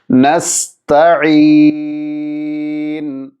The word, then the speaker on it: نستعين: ശേഷം ശ്രദ്ധിക്കേണ്ട അക്ഷരമാണ് ത. പലർക്കും അവ്യക്തമാണ് ത ആണോ തോ ആണോ എന്നുള്ളത്. ചില ആളുകളൊക്കെ ഉച്ചരിച്ച് കാണാറുണ്ട് നസ്തഈൻ, തോ ഉച്ചരിക്കാറുണ്ട്. ശരിയല്ല, ത ആണ്, രണ്ട് പുള്ളിയുള്ള ത. നാവിൻ്റെ തലയും മേൽ മുൻപല്ലുകളുടെ മുരടും ചേർന്നാണ് ഉച്ചരിക്കേണ്ടത്. നസ്ത നസ്ത നസ്ത നസ്തഈൻ.